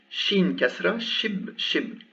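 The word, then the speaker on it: شين: well or ship ship here you've seen it's sheen so what i pronounce is this ship ship twice the same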